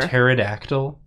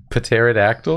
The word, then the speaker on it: pterodactyl: putting in all caps the p is silent I know it's just so funny which P what p in the name of this dinosaur pterodactyl pterodactyl pterodactyl potassium potassium that's